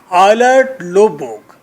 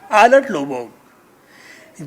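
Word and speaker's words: Eilert Løvborg: फिर कैरेक्टर है very important character, I may consider him the hero of the drama, आइलर्ड लोबोग। जे को साइलेंट करें, आइलर्ड लोबोग, आर को भी साइलेंट करें, आइलर्ड लोबोग जीनियस है, थेस्मैन का कंपटीटर है, शराब बहुत पीता है।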